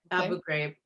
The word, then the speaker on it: Abu Ghraib: pyramid this is the one in Abu Ghraib pronounced right Abu Ghraib and she was convicted of torturing them and